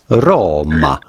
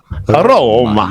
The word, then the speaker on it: Roma: a typical Italian pronunciation roma roma you do want to stress welcome to roma roma in English yeah with the Italian accent welcome to Roma I really roll the R's Rome Viva La Roma